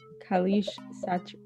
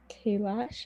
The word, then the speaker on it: Kailash: advocated the right to educate muhammad ali jinnah kalish i'm so sorry if i mispronounce it satya rafi and ram nath kovin great so it was kailash again sorry if i was pronounced great job